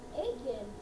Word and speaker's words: Aiken: But Aiken rhymes with bacon. Aiken, bacon.